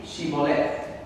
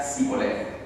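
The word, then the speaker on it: Shibboleth: Si él respondía no, entonces le decían: ahora pues di Shiboleth. Y él decía Siboleth, porque no podía pronunciar de aquella suerte.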